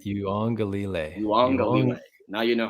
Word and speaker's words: Uiagalelei: Okay, so let's learn his last name together, guys. It's DJ Uiagalelei. All right? Uiagalelei.